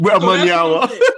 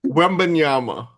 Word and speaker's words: Wembanyama: Wembanyama. Wemby, right? Sorry, I'm not trying to. I mispronounce for a living. Say his name again. Wembanyama.